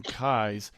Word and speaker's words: Keyes: have on today uh Mr Kai his name when you spell it is going to look like keys to you so I've already had